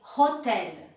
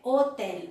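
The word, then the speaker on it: hôtel: a tendência de dizer hotel. E aí eu tenho que... Não, é hotel. H não tem som em francês.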